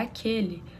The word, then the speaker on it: aquele: Agora, aquele tá formando só um som, como se fosse o som de K.